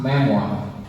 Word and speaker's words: memoir: Everybody, I want you to pronounce memoir. Memoir. Memoir. The R is silent.